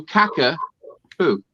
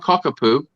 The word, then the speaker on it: Cockapoo: No, caca-poo, not cockapoo, Cockapoo.